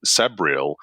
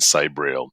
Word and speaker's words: Sabriel: And I actually always say you can pronounce it however you like. And I flip-flop myself sometimes between Sabriel and Sabriel. So there is no wrong way to say my character names.